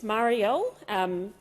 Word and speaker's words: Marielle: It's Marielle, Senator Henderson, through the chair, through you, Chair. That's how you say my name.